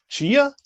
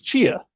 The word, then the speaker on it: Chia: It's Chia. It's Chia coin. Yeah. Chia coin. Mm-hmm. I don't know how to pronounce it. Like Chia Pet.